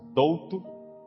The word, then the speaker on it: Dolto: Em português a gente simplesmente pronuncia mais fácil, Douto, D-O-L-T-O.